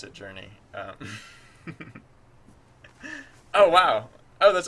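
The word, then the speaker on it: JRNE: name is J R NE e and I pronounce it journei um oh wow oh that's awesome um well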